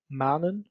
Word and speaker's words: manen: When we want to create a long sound, manen, for example, we are only going to write the consonant once. Manen, one N.